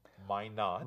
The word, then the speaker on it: Minot: And that's pronounced Minot. Minot, yes. That's how the crew pronounce it, at least.